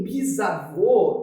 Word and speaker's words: bisavô: Por que bisavô tem acento? É um acento circunflexo, por conta da abertura do som ser menor. A sílaba tônica se localiza na última posição e termina em O.